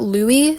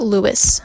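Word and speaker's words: Louis: And also for his name, I thought it was Robert Louie Stevenson. It's Robert Lewis Stevenson.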